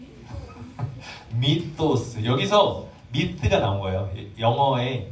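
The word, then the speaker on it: μῦθος: 뭘까요 허탄한 이야기 이것을 헬라어로 위 한번 발음을 해볼까요 미토스 미토스 여기서 미스가 나온 거예요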